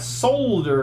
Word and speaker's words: solder: where did all that solder go I just pissed off all the people in Europe sorry guys promise I won't pronounce the L anymore until I do